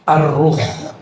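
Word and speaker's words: الرُّوح: Sekarang masuk ke istilah kedua yaitu arruh. Bukan roh ya. Arruh. Kalau roh apalagi tuh ya bacanya ar pakai alif lam.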